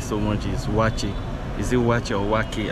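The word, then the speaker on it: waakye: Okay, the first one that I like so much is wachi. Is it wachi or waki? I don't know how. Waki is usually pronounced waki by the Muslims in Ghana, and okay. Wachi by the non-Muslims.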